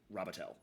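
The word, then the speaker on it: Robitaille: b i t a i l l e robotti uh but I'm robatel we we dropped a letter and changed the pronunciation so to something else entirely bought this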